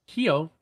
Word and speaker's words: Hio: By the way, if you do end up mentioning me, the name is pronounced Hio, like it's Japanese or some S like that. So there you go, Hio.